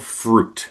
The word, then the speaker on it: Frute: And we are called Fruit, but it's spelled Fru T.